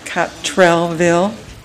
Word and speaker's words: Cottrellville: the Historical Society sure in catville pronounced cellville um it was the